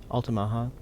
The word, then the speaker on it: Altamaha: Altamaha, yeah, that would be a Native American word.